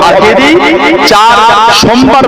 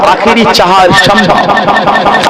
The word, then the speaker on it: আখেরি চাহার সোমবার: এটা আরবি আর ফার্সিতে সম্পর্কে। আরবিতে আখেরি মানে শেষ। আওয়াজ মানে এটা হবে আখেরি চাঁদ সোমবার নয়। এটা হবে আখেরি চাহার সোমবার।